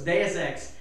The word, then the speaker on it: Deus Ex: get get my head around it so it's deus ex uh human whatever it was but anyway gamestop